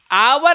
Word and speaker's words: hour: आवर, uh start होगा या नहीं होगा? आवर अगर कह रहे हैं